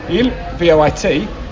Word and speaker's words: il voit: je vois, V-O-I-S, and il, V-O-I-T, but given you don't pronounce the S or the T, je vois, il voit, they sound the same.